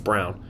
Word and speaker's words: Braun: Is it Braun? Brown? I think it's Braun. I think Sorry. I think it's Brown, but I always want to make it Braun because the way it's spelled.